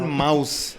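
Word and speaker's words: Maus: double digest okay called Mouse okay there's this guy spell it m us M us m a US yeah Mouse like German Mouse they they spell Mouse like that yeah the mouse the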